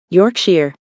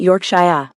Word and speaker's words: Yorkshire: You pronounced Yorkshire, right? Yorkshire, not Yorkshshire.